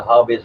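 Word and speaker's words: Havi: The show will be called Hobby Unboxed. Hobby is spelled H-A-V-I, as in J-A Victor I.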